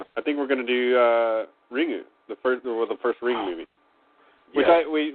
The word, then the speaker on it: Ringu: The U is kind of the U is kind of, it's almost silent, but it doesn't look right when like to hear it pronounced correctly. It should be something more like Ringu or something.